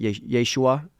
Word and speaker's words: Yeshua: a point where one of the songs called Yeshua, some pronounce it Yeshua, for the name of Jesus.